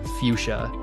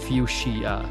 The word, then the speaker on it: fuchsia: It's pronounced fuchsia, not fuchsia, as it may look.